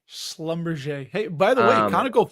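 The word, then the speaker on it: Schlumberger: I've been getting a lot of heat for my pronunciation of this. So, apparently it's Slumber. Slumber.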